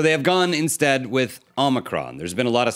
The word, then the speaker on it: omicron: name of this variant most people are pronouncing it omi omicron the name is omicron this new omicron it's called the omnicron omnicron that was biden